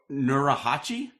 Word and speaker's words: Nurhachi: But so you made, and you're going to pronounce it better than me. It's the Urn of Nurahachi. Is that right? Nurhachi.